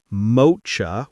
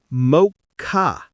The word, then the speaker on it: mocha: Many learners say mocha with the ch like chocolate, but it's actually mocha. Yes, mocha like m o k a.